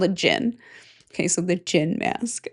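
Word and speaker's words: djinn: It's just the D is silent. It's just called a jin.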